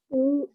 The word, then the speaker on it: knee: So what's important with KN and GN is to remember that they have those silent letters. That's what's important to remember. Because if you pronounce that K and that G, it'll confuse you with the word. So remember, KN and GN both say mm. We don't hear the K, we don't hear the G.